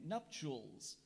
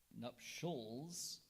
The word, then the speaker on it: nuptials: language of origin Latin are there any alternate pronunciations there is nups nups or nups could you repeat the